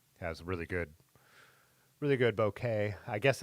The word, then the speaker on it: bokeh: So, the lens is the uh yeah, has really good really good bouquet. I guess it's not supposed to be pronounced bokeh. I've learned lately that it actually is bokeh. It's a Japanese word.